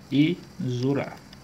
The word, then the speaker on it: exorar: E essa palavra aqui é derivada do verbo, né, exorar. Observe aqui, ele do verbo exorar. Perceba o seguinte, que aqui o X ele tem som de Z, correto?